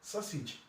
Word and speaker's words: sausage: This A here is pronounced as E, sausage.